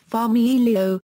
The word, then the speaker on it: familio: For example, familio family is, familio, with the stress on the second I, but when the word